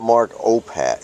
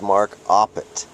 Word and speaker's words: Mark Oppat: on the poor guy his name is not mark oppat it's mark oppet and it's not spelled o-p-p-a-t-t it's spelled o-p-p-a-t just one t and the name of